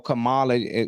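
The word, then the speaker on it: Kamala: Trump don't mean like cam or Camala you know because gota say it correctly on here you know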